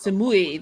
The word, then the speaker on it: Samui: ครับ Samui. That's how you say it.